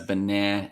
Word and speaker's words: banana: I would say banana with. So the first syllable is definitely a schwa, like ba. Yeah. Second syllable stress, banana, and then back to a schwa again, like banana.